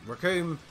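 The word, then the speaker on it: Recoome: him out here but Rick whom it rhymes with doom and he quit for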